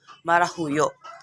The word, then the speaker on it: marahuyo: also their correct pronunciation the first word is marahuyo the correct pronunciation of this is marahuyo marahuyo marah means to Enchanted or to ch or